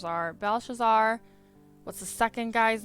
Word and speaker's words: Belshazzar: So this is Belshazzar. Balthazar? It's spelled really weird, but I think you say Belshazzar.